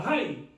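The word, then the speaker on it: Hai: algo así se pronuncia Jai, la ciudad Oai. Oai, para ser más, ¿verdad?, fonético la pronunciación en español. Escribe H-A-I, pero en la Biblia cuando se utiliza H se pronuncia Ja.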